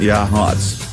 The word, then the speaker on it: Yachats: Pronounced Yachats.